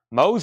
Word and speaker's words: Mose: Mose Allison, rhymes with nose.